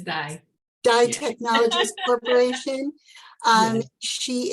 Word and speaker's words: DAI: And she is doing incredible work as CEO and founder of, and am I pronouncing this correctly? Is it DAI Technologies or DAI Technologies Corporation? I think it's DAI.